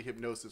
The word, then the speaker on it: HypnOS: know god thing yeah i like how you pronounce it hypno os instead of hypno s hypnos it's hard to pronounce it's hard to see like you want to say hip now so yeah it's hypnos hypno s hypno s